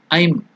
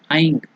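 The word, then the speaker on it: ऐं: But here the Mula mantra is Aim or Aing.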